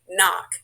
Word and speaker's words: Knock: Hi, I'm Miss Knock. Pronounced N-O-C-K.